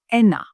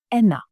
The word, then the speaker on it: ένα: Number 1, ένα. Ένα. Be careful, this is not a V. As you know, it's ni. Ένα.